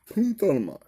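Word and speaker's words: πυνθάνομαι: I could give it an attempt to say it, but let's see how it pronounces it. Make sure it's turned up, okay? Here it is. Strong's G 4441. Punthanamai.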